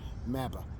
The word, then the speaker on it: MABA: MABA rhymes with MAGA only a lot better.